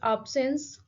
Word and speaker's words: absence: And if we see the stress, so we can say that the stress is on the very first syllable, a syllable, ape.